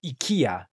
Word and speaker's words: IKEA: I really enjoyed checking out the IKEA, and actually, they pronounce it IKEA in Japan.